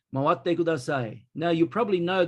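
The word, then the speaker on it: 回って: Now, here you see the double T. It's very important. It's a little bit like the English word bookkeeping. The double K is not pronounced bookkeeping. The double consonant sound in Japanese means it's double the length. So it's not mawatte, it's mawatte. And here, mawatte, mawatte kudasai,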